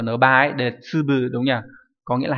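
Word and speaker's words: 粒: Hay là chữ lạp này, đúng nhỉ, chúng ta học ở N3 ấy, để tsubu đúng nhỉ, có nghĩa là hạt.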